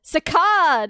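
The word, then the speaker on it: saccade: I don't know what this is sacad sakad is apparently how it's pronounced.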